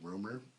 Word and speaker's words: RMR: I guess you say it rumor is how you say it, but it's spelled RMR. It's basically these dudes in